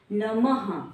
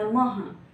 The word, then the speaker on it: नमः: हम ह का प्रोनाउंसिएशन करते हैं, जब अह की मात्रा आती है तो हम कैसे पढ़ते हैं, अह पढ़ते हैं, लेकिन नमः आता है ना, नमः।